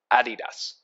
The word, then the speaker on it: adidas: was his collab with adidas and i know people are saying hey why are you saying adidas is so weird that's how they pronounce it in europe and that's where they're from so nice adidas so cool